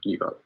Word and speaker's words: ephod: I think it's pronounced the ephod. Right, ephod.